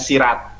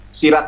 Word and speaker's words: Sirah: kalau kita berbicara tentang Sirah Nabawiyah tadi ibu bacanya Sirat nah ini murtadin odong-odong ini kadang karena bukan Islam aslinya adalah Sirah Nabawiyah enggak ada ibu masdarnya